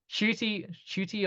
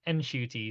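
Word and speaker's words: Ncuti: trend and hope like Shooty or and I've heard that it is actually pronounced Enshooty, so I will try I to did pronounce.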